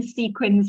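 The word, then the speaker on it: CQUINs: And I don't know if that, yes, Abby's written sequins like with S. Yeah, it's pronounced that way, but it's C-Q-U-I-N-S.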